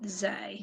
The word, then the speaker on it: ze: heard it differently so z e and xe are both zay that's how i've heard it brilliant thank you so